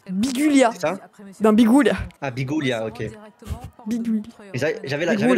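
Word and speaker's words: Biguglia: Bah pour moi par logique le premier G se prononce mais pas le deuxè donc je dirais Bigulia. Bigulia dans Bigouia.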